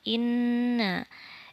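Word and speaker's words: إنّ: yang pertama in nama inna ini mungkin sudah tidak asing sudah tahu inna nun bertasydid disebut dengan guna dibacanya ditekan guna yaitu dua harokat inna begitu ya guna selanjutnya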